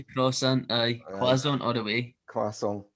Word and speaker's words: croissant: And I had a total argument with my wife over how to spell, how to pronounce croissant, and I'm right.